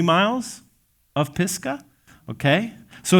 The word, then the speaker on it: Pisgah: And honestly, you got to just kind of pronounce that pretty accurately, or it could just get into a crass association. Pisgah, okay? Pisgah.